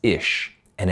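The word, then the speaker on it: אשה: But the word for man is ish, and it's spelt Aleph, Yod, and Shen.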